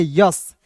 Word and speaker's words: yes: उसके बाद देखिए YES, इसे पढ़ते हैं यस, एस नहीं पढ़ेंगे, इसे क्या पढ़ेंगे दोस्तों, यस पढ़ते हैं।